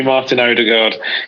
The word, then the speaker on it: Martin Ødegaard: loan signing of Martin Ødegaard, I believe it's pronounced. You can call me Martin Ødegaard.